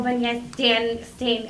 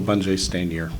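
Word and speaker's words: Michael Bungay Stanier: And then Michael Bunye Stain, I always say his last name wrong. Stephen, help me. Michael Bunje Stanier. Thank you. I always say Stanger with a G at the end.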